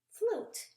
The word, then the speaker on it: flute: So we have ooh, and then that U sometimes makes an ooh sound instead of that U. Okay? T. And there's that magic E. Okay? Ooh. Oh, let's flip it around the right way. Oh, we got a wild E. Ooh, oot. Flute. And a flute is something